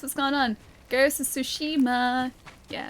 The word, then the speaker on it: Tsushima: Is the T in Sue supposed to emphasize the S? It's like sushima. I say sushima, though. probably pronounced it slightly wrong. Or it's it's sushima, I think. Uh but yeah, it's like a kind of silent t a little bit, at least for me.